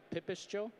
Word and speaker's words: Pipistjo: So I am chef and founder of Pipistjo. I know the spelling of it is not phonetic, but that's how it's spelt in English letters. Looks better in dialed with the syllabics.